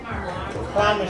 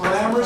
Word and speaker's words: Clymer: Clymer Street, Brooklyn, New York, 117. Clamor Street? C-L-Y-M-E-R. You pronounce that.